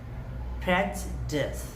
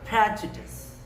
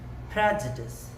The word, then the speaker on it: prejudice: सो we pronounce it like prejudice. There are three main parts of this word, and you emphasize more on the first portion of the word, which is prejudice, or some people pronounce it like prejudice.